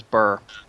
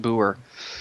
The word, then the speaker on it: Burr: name is actually German my last name is Burr it was I think it was originally pronounced Boer back when my great